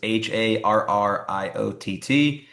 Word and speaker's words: Harriott: So my last name is spelled Harriott, but it's pronounced like a Marriott. So it's Harriott.